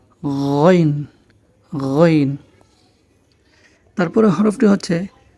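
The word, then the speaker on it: غ: আইন এরপরে হরফটি হচ্ছে গাইন খ যেভাবে আমরা উচ্চারণ করেছিলাম ঠিক সেখান থেকে উচ্চারণটি হবে গাইন গাইন গইন তারপরে হরফটি হচ্ছে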